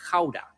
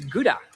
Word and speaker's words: Gouda: grown up in the city of hauda or how they call it in other countries gouda and you most probably